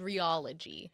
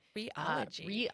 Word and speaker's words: rheology: So I recently learned it's called rheology. Rheology. Rheology, but it's spelled RHEOLOGY.